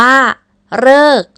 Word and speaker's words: ฤกษ์: ซึ่ง นั่น ก็ คือ แบบ ที่ 3 ก็ อ่าน ออก เสียง เป็น เหรอ เออ ตัว อย่าง เช่น คำ นี้ อ่าน ว่า ฤกษ์ หมาย ถึง เวลา ที่